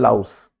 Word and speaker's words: louse: देखो एक जूं को बोलते हैं लाउस, जैसे माउस से नीचे हुआ तो M की जगह L कर दिया, स्पेलिंग माउस की क्या